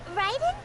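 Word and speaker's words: Raiden: thinks we've heard that one before uh you pronounce it R Ryden Ryden that is the and since Ryden is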